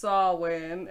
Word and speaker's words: Samhain: like yeah because like if it's samhain is pronounced sawwin and this is spelled sam ganagans then it's